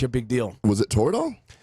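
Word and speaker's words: Toradol: big deal was it total rhymes with corridor right so anyway I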